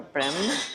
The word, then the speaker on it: Bremen: So, um, we're sitting in here, but it is a beautiful cafe and I would highly recommend it if you're in Bremen or Brim, as the locals say.